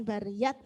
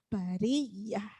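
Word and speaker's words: بَرِيَّة: Jadi makanya saya ingatkan kembali kepada jenengan ketika tak marbutoh itu ada di akhir ayat maka bunyinya hak bariyah. Jadi bukan bariyat tapi bariyah.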